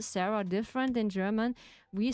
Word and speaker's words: Sarah: So Sarah is pronounced different in German. It's called Sara.